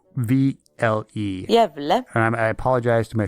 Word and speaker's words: Gävle: You can look it up, look up the pronunciation. G-A umlaut, the umlaut over the A, VLE. Jävle.